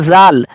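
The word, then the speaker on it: ذ: और जिस पे नुक्ता है उसको हम जाल बोलते हैं।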